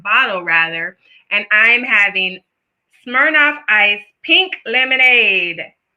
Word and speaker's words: Smirnoff: and ends in enough rhymes with shirk off so that is what